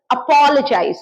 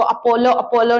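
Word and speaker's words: apologize: अपोलोजाइज इसका pronunciation कैसा है? अपोलोजाइज। इसको अपोलो अपोलो नहीं करना है, अपोलोजाइज। थोड़ा सा मुंह खोल के अपोलोजाइज।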